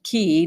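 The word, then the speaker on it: Cay: green turtle key and elbow key pronounced key not k a fact I never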